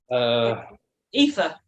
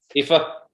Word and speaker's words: Aoife: It's Aoife. And I was look and think, how the shit do you say that? Aoife. Aoife.